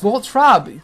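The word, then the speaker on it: Voltorb: It's Voltrob.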